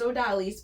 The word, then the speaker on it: Odalys: and I've heard some non-spanish speakers they don't pronounce it right so um it is odalis but I always wondered where did do you